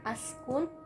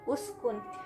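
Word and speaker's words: اُسْكُنْ: Maksud kita mau mengambil napas, kita baca di awal uskun, maka bacanya uskun, bukan askun, bukan iskun, tapi uskun.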